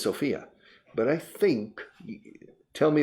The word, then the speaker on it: Sofia: Se dice Sofia, no Sofia, right? For the capital. I think the capital of Bulgaria, they stress the first syllable, not Sofia. Everybody says Sofia, but I think, tell